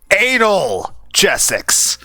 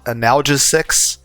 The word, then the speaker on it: analgesic: be a bit much I I can't pronounced anal jessix okay no anal analgesic but yeah it's painkilling